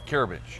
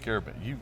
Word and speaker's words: Karabensh: Did I pronounce that right? You did. All right, Karabensh. Just like you're taking care of a bench. Taking care of a bench, Karabensh.